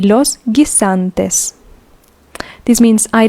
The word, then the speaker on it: guisantes: Peas, los guisantes. Los guisantes. Remember, we don't pronounce the U because it is in between a G and an I. Los guisantes.